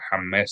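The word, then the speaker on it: חָמֵץ: And the accent is on the last syllable. Hames. Chametz. Okay. It's not chametz, it's chametz. Okay, gotcha. Correct. And in English Jewish lingo, they say chametz. That doesn't mean that it's proper Hebrew. It's not.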